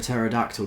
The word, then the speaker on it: pterodactyl: can't you hear a pterodactyl go to the bathroom because the P is silent what what does the